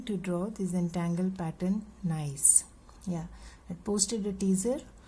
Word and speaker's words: gneiss: is a pattern although we spell it g n e i s s however it is pronounced as nice so i'm going to